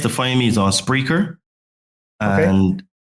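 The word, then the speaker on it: Spreaker: find me is on spreer and how do you spell that s p r e a k e r correct it's like speaker but with an R yes okay that's is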